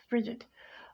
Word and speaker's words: frigid: It rhymes with the word Bridget, but it's frigid.